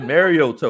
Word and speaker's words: Mariota: do have a quarterback okay all right marcus mariota all right you know you gotta product like you gotta pronounce it like your old uncle granddaddy what's